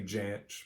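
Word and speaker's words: Jansch: to be bert yanch some people say janch but uh i think it's pronounced burt yanch this is a early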